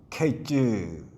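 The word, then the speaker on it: קֵץ: 히브리어로 여름과일 하면 카이즈 그렇게 발음을 하고, 종말 하면 케이즈, 이렇게 발음이 비슷합니다.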